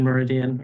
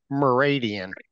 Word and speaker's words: Meridan: wrong merid is it how do you pronounce it Meridan Meridan thank you yeah I got Meridian my head a long time ago and I just can't jar it Loose um but anyway but